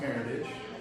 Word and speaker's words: Meritage: America just sells one it's pronounced Meritage because it's actually an American term it was there's group